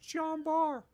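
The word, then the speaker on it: Jean Bart: end of jumbo like stop pronouncing the t it's it's pronounced john barr click okay i'm not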